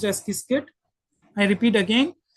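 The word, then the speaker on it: Qiskit: IBM has also got its own software tool which is called askit q i kit t pronounced as kiskit.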